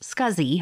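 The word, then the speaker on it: SCSI: least four SATA ports small computer system interface pronounced scuzzy hard drives joined the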